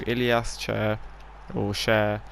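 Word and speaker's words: Ilias Chair: before half time through Ilyas Cher, I believe is how you actually pronounce it, because he is Moroccan and not English, so we don't just say it how it's spelled.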